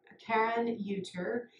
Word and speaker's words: Karon Euter: And her name is Karon Euter.